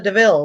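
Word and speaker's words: De Vil: Cruella Deville, like but it's spelled like devil.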